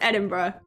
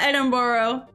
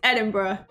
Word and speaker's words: Edinburgh: of the castle that's right there yes it's pronounced Edinburgh yes it's not Edinboro it's Edinburgh but um but that's what I'm saying but